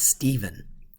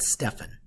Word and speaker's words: Stephen: And this is pronounced Stephen, not Stephen.